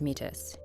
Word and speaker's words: Métis: when the war did Frank is metis which it should be noted he pronounces as mitus he was a private